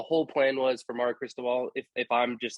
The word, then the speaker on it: Cristobal: And part of I know in Miami, like they want to get Cristobal, right? Is that how you say his name? Oregon's coach? Yeah. Yep. Mario Cristobal.